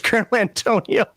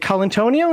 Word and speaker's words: Colantonio: I saw his name, I thought that was Colonel Antonio. Oh, that's reading literacy for the win. So I'm calling him the Colonel now. was it Colantonio?